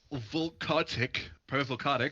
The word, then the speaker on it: Volcotic: which will bring up, boy, all these Private Volcotic is up. Rhymes with sick.